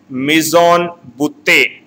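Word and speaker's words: mis en bouteille: Here double L word is silent.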